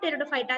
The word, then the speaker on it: Pteridophyta: इन the name of टेरिडोफायटा द P is silent.